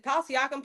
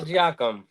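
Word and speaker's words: Siakam: Tyrese's Hallebertton because if Palsyakum plays well, uh, I wanted to be on Ty. He is overrated. What did you say? Is who, Jacob? I did. I say his name is Pascal Sakum.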